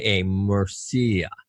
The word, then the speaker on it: Murcia: You know that it's the University of I can't pronounce it. I say Mercy, but basically it's Murcia, Murcia.